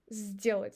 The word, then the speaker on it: сделать: And сделать. So we write s, d, but d influence on s, and we pronounce it as z, сделать.